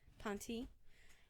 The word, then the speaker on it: Ponte: about Kenneth C uh point pointy point point yeah point it's a silent e or Ponce Ponzi Ponte yeah that's that seems more like it now in August